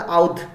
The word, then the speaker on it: अवध: Indentured labour of अवध, जिसको पहले आउध आउध बोला करते थे, प्रोनाउंसिएशन था आउध, ओके, अभी जो अवध है Bihar reason, that eastern UP, that is what अवध इज।